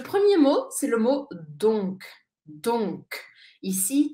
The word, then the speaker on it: donc: mot c'est le mot donc donc ici très important de prononcer la lettre C à la fin donc il y a